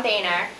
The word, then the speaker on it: Boehner: Because of this, Speaker of the House John Boehner accused Mr.